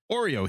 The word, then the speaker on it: Oreo: Oreo here, pronounced like the cookie.